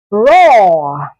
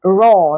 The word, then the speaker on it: raw: o a r mm words like raw yes this is raw not ra some people say ra